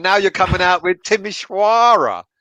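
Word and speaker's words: Timișoara: So you're having a go at me when I say Sufal is Sufal, and now you're coming out with Timisoara. Well, that's how it's pronounced. They're Romanian.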